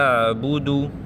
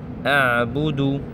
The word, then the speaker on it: أعبد: هي الآية الأولى لا أعبد عين عين عين أعبد ما تعبدون العين يجب حقًا التدرب للفظها لأن البعض يلفظها إما سطحية سواء لا أعبد أعبد أعبد